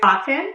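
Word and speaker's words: Kotn: the next one is coton I think that's how you say it but it's spelled k o TN the next one is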